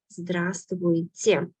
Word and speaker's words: Здравствуйте: Здравствуйте. Здравствуйте. I know it's very challenging to pronounce all these consonants in the middle. But we do not pronounce letter V here. We say здравствуйте. Letter V is silent.